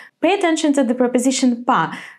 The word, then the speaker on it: по: So we actually write о, but because it's a preposition, it is not very important, and so we do not pronounce it in a very clear way, so it becomes по городу.